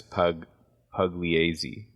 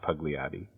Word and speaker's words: Pugliese: It's Augustus Pugliese, not Pugliotti.